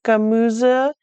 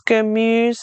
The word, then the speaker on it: Gemüse: Practice pronouncing your German vowels. It's not Gemüse, it's Gemüse.